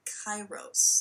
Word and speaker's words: kairos: get at them this moment then becomes a kairos that's spelled k-a-i-r-o-s it's a greek word a crisis